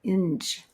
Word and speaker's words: Eng: And Eng is spelled E-N-G, but I've heard some people like Dave Asper, he pronounces it Inge, like with a soft G.